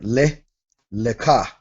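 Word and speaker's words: לְךָ: Leka. Got the quamats inside the kaf sofit, meaning this sound follows the kaf.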